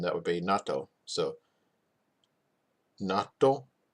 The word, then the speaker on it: 納豆: So natto. See, I said it wrong the first time. I said it as one word.